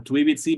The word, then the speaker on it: tuivitsi: Okay, that T on the first, on tuivitsi becomes like a D sound.